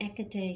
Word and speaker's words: Hecate: of magic you see ekatee here her name is spelled h e c a t e but it's the h is silent so the correct pronunciation